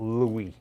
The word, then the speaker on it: Louis: st louis is that louis how dare you if you pronounce the s in saint louis how come you cannot pronounce the s in illinois illinois don't you dare